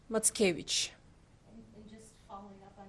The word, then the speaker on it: Mackiewicz: in our blood and his last name pronounced matkevich and just following up